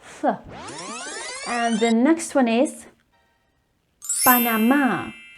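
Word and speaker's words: Panamá: the next one is panama there is la tilde over the a which means that the stress goes on the a and the last one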